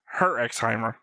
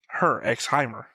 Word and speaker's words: Herxheimer: It's Herxheimer. Same way I pronounce like shows like Hunter x Hunter. Spy X Family. Herxheimer.